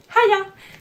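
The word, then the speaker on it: hiya: ils vont nous dire Haya. Donc, pas avec la main, là, mais le Haya. Et puis Haya, ça s'écrit H-I-Y-A. Et voilà, c'est à la place de dire juste hi, c'est Haya.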